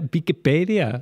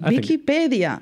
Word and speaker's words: Viquipèdia: Because in Catalan, it's not called Wikipedia as it is in many other languages. It has its own spelling and its own way of pronunciation. Yeah, Viquipèdia. Viquipèdia.